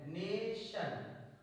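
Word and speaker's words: nation: T light next rules जब किसी शब्द में टी या एस के बाद आईओ आए तो आईओ को आ पढ़ते हैं फॉर एगजाम टी आई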